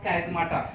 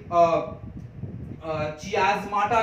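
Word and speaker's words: chiasmata: कई लोग इसे चियाज़माटा भी कहते हैं, बट यू can pronounce as on your wish. अगर आपको कैज़माटा अच्छा लगे तो कैज़माटा बोल सकते हैं, अगर आपको चियाज़माटा अच्छा लगे तो आप चियाज़माटा भी बोल सकते हैं, बट बेटर इज कैज़माटा, ठीक है।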